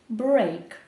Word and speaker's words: break: Зазвичай сполучення букв «e» та «a» читається як [i], але все-таки є виключення і тут це сполучення букв читається як : «break».